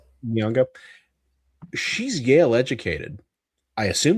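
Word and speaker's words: Nyong'o: Nyongo. Nongo. Niongo.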